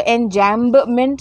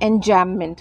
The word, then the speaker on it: enjambment: B pronounce नहीं होता है, इसको एंजैम्बमेंट नहीं बोलते हैं, एंजैममेंट बोलते हैं, ठीक है।